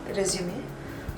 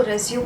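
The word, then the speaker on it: résumé: बहुत लोग इसको रेज्यूम बोलते हैं, रेज्यूम्स बोलते हैं। एक्चुअली रेज्यूम वर्ड है, बट इसका मतलब होता है टू कंटिन्यू। इसका करेक्ट प्रोनाउंसिएशन है रेज्यूमे।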